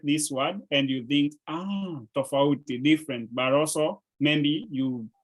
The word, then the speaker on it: tofauti: So you can say tofuti, say tofuti, everybody, tofuti. Tofuti. Tofuti and tofauti. Tofauti. Tofauti. Yes. Yes, there's an extra syllable in between there.